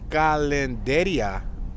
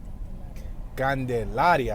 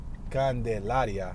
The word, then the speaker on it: Candelaria: We're back on Calendaria Road. Is that how you say it? Candelaria. I'm sorry, I say calendar. Candelaria.